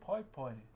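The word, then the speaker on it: paepae: Okay, so what I'm currently carving is something called a pai pai. So the way you spell that word is P-A-E, P-A-E, and you normally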